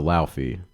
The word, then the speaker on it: Laufey: Nope, Do you listen to Laufey? not Leifei.